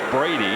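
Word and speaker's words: Brede: One and one to Brady. It is pronounced Brady even though it's spelled B R E D.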